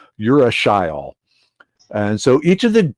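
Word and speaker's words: urushiol: caterpillarly looking molecule called uracil and i always pronounce that like you're a shy all and so each of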